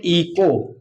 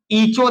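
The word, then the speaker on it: echo: इसको देखेंगे यहां एच ओ दिया है तो इसको हम पढ़ते हैं इको। क्या पढ़ते हैं? ईचो नहीं पढ़ते हैं, इको पढ़ते हैं, इको।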